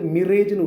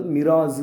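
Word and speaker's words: mirage: போகுது லைக் மிராஸ் மிராஸ் இத வந்து மிரேஜ்னு உச்சரிக்க கூடாது மிராஸ் தான் உச்சரிக்கணும் கடைசில இட் சவுண்ட் கொடுக்கணும் சரிங்களா சோ மிராஸ் அம்ூஸ்ட் மிராஸ்னா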